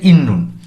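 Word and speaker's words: 있는: ইত মানে থাকা বা আছে এর সাথে যখন আমরা নুন পার্টিকেলটি যুক্ত করছি তখন আমাদের উচ্চারণ হচ্ছে ইন্নুন।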